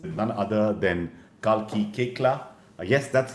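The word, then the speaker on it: Koechlin: And today we're talking about the art of storytelling through podcasts with none other than Kalki Kekla. Yes, that's how her name is pronounced, and she will tell you more about that, I'm sure, because that's quite a story.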